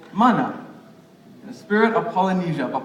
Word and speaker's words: mana: you say this yeah yeah it's it's called mana because the a is pronounced some people see it they say manna it's a special meaning it means strength or